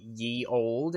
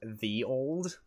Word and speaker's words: Ye Olde: ye oldie Roger like turns out it's not actually supposed to be pronounced that ye olde it's supposed to be pronounced the old thunk that does